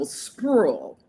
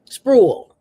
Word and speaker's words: Spruill: And it's one one syllable, Spruill. Spruill.